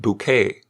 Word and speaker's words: Bucket: routage who excelled as hin bucket pronounced bouquet in keeping up appearances